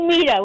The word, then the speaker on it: Meta: It's actually Meta with a long E, phonetically incorrect.